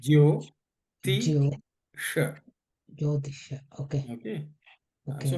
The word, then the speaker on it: Jyotisha: Brother, you have mentioned about the Jyotish, how they pronounce it exactly? Jyotisha. Jyotisha, okay. Jyo, Jyo. J-Y-O, okay. Jyotisha.